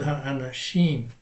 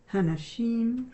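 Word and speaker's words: האנשים: Tikrei el hanashim. Ha'anashim. The women? No, that's what you said. But I said ha'anashim, which is the men.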